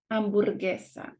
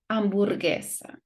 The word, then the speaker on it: hamburguesa: We don't pronounce the U. And if it is this combination, we're gonna ignore the sound of the U and we're gonna have a strong sound for the next vowel. So it will be guerra, guitarra, hamburguesa. Now, there are some letters